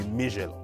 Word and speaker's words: Michelo: It's supposed to be Michelo.